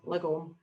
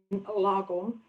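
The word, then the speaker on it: lagom: So Live Lagon, and for a Glaswegian saying Lagon, it sounds like we were trying to be posh, but it's actually, that's how we pronounce it.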